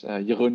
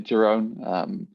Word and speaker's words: Jeroen: So yeah, my name is Jeroen, is indeed the Dutch pronunciation, or more often most people call me Jeroen.